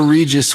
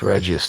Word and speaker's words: Regius: I'm sure Regis would have wanted you to let yourself go wild and crazy. And I am sure happy you did. It's Regius, 3 syllables.